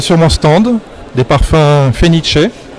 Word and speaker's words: Phoenicea: mon stand des parfums fenice ça s'écrit un peu différemment mais le la prononciation c'est une prononciation italienne fenice qui veut dire phoenix